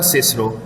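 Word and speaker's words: Cicero: कि वो सिसरो कहेंगे, वर्ड होता है सिसरो है, आप उसको किकरो कैसे बढ़ा सकते हैं? तो चिप्स कहता है मेरे नजरिए में ये बेवकूफ़ी, और है भी बेवकूफ़ी। आप ऐसे वर्ड्स की प्रोनाउंसिएशन को चेंज नहीं कर सकते।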